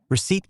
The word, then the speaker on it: receipt: Receipt carries a silent letter that was inserted by